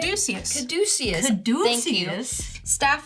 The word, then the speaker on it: Caduceus: And I will pay 3 for Catechus. Is that how you say it? Caduceus.